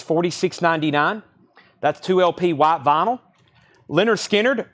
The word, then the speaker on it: Lynyrd Skynyrd: that's 2lp white vinyl Lynyrd Skynyrd pronounced Leonard Skynyrd analog Productions 2lp 69.99